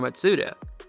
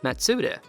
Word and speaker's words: Matsuda: founder of the company matsuda which is pronounced very close to mazda other than the name